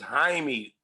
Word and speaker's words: Jaime: Jaime. It's Jaime.